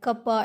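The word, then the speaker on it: κ: now curvature is denoted by k which we pronounce like kappa and radius of curvature is denoted by rho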